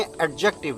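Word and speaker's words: adjective: तो अब आप देखें एडजेक्टिव, ये डी थोड़ा सा साइलेंट है, मतलब डी को हम पूरा प्रोनाउंस नहीं करते।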